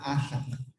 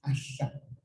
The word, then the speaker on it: Assan: It's not Assan, it's Assan. So there's two S's there.